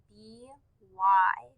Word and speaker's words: by: The word by is spelled B-Y. The Y in the word by makes the long I sound. So we hear B-I, by.